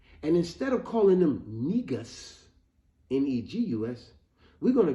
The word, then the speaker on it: negus: and their dignity and instead of calling them negus neg us we're going to get rid of